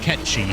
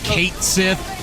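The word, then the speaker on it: Cait Sith: That's pronounced Ketchi. For the record. It's a Gaelic name. Okay. Was that a place in the OG stuff? They pronounce it Kate Sith in Final Fantasy VII Rebirth, and everyone hates that.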